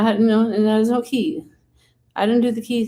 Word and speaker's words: qi: I didn't do keys. What if I lost the key? No, it wasn't a key. It was a U. So it was a key, like a lock key, but it's spelled QI.